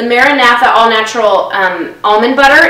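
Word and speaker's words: MaraNatha: mood I'm in um the maratha that's that's how we're pronouncing it the maratha all natural um almond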